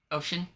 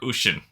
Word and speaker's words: Oisin: say it, but It's ocean or ush-in. Ush-in? Okay, yeah. I heard I think I've heard ush-in, too. But, ocean.